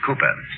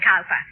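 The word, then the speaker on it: Cowper: cooper danny uh it is spelled calper but pronounced cooper only just the other day i heard you call him calper oh i know my dear i sometimes do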